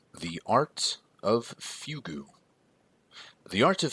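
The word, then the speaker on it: fugue: life the art of fugu which by the way is spelled Fu gu e it is the culmination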